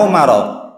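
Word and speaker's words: عمر: Kalau ada huruf alif belakangnya, membacanya Umar.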